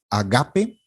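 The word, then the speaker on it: ἀγάπη: en la tercera Alfa la otra es agape agape el acento está en la segunda Alfa este es interesante Cómo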